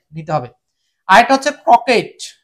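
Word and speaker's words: croquet: আর এটা হচ্ছে ক্রকেট, এটাকে ক্রকেট না বলে শুধু ক্রকে বলতে হবে, কারণ এই টি এর উচ্চারণটা হবে না।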